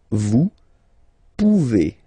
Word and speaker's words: pouvez: Then vous pouvez. Okay? Classic ending as well for the vous form. A Z like that. Okay? Remember you pronounce it E.